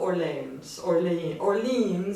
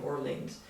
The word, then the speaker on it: Orleans: And I'm not pronouncing it the French way, I'm just saying Orleans.